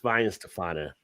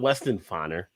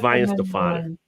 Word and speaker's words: Weihenstephaner: Weihenstephaner, not Weston-Faner or Weston-Faner. It's Weihenstephaner.